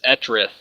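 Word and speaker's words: Etrith: the name of the server is etriff I believe is how they have it pronounced uh you can go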